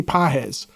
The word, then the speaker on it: Pages: They've got a guy right now, Andy Pages. It Pages, but it's not. It's pronounced with a soft G.